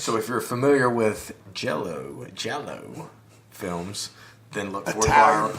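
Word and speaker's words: giallo: Jello. It's the Italian word for yellow, Right. which I'll get into that. Later, why that is. So if you're familiar with Jello films, then look forward Italian porn to our films.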